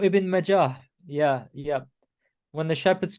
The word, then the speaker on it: Ibn Majah: Ibn Mahaj. How you say it? Ibn Majah.